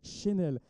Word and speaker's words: Chenel: Procédé Chenel, il faut bien le prononcer, c'est pas Chanel, Chenel International.